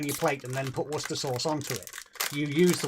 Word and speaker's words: Worcestershire sauce: we we don't say Worcestershire sauce we just say Worcester sauce no not not shy not no not shya it's it's pronounced sure in that word that's brown sauce that's